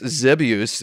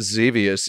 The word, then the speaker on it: Xevious: xevious boards yeah yeah it's it's zebius but xevious sounds is correct in English right yeah that's what I said because it rhymes with devious xavius Gotta Love great